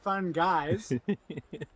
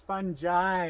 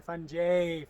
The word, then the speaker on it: fungi: we're fun guys but they're not fun guys it's fun jai or funjay for those that pronounce it wrong so uh russellas are